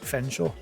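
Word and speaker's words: Featherstonehaugh: It's like the guy in here whose name is spelt like Featherstone Hawk, but you actually say Fenshaw.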